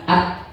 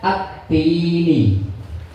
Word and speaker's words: syamsiyah: Al, itu kan misalnya al ketemu tak. Bacanya at. L-nya hilang enggak Bu? Hilang enggak? Nah, berarti itu syamsiyah. L-nya hilang syamsiyah. Nek hilang jenenge syamsiyah, nek ora hilang jenenge qamariyah. Nggih. Jadi bacanya at-tini.